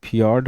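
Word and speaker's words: fjord: वहाँ फियोर्ड है। एक है फियोर्ड (समुद्री खाड़ी)। इसे FI और FJ दोनों तरह से लिखा जाता है। लेकिन इसका उच्चारण फ्योर्ड की तरह किया जाता है।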